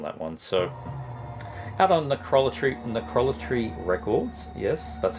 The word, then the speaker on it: Necrolatry: So, out on Necrolatry Records. Yes, that's how you say it, Necrolatry Records.